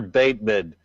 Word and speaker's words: Bateman: You're Bateman. The E is silent.